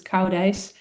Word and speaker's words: Koudijs: It's joint work with Peter Koudijs, so it's not very easy to pronounce, but it's Koudijs.